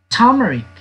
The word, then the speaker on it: turmeric: pronounce it correctly. Turmeric.